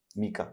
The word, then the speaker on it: mica: मीका या माइका, यू can pronounce it एनी way which you want.